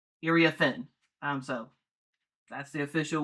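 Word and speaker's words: Iriafen: name wrong this entire time uh everyone was pronouncing it irie offen um but it's irie aen irie aen um so that's the official way to pronounce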